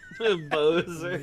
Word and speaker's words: Bowser: too slow Bozer what my logic if I may defend myself here is that b w is bow yeah so I was like okay so his name is Bozer but I guess it's also like take a bow yeah yeah it's kind